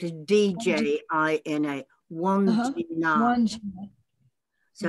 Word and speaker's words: Wandjina: Wandjina, W-A-N, and then J-I-N-A, or it can be spelled as D-J-I-N-A, Wandjina.